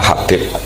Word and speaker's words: Habib: Itu di harokatnya kitab itu ada yang nulis Hubab. Yang benar, oh okay. Yang benar itu bacanya Habib.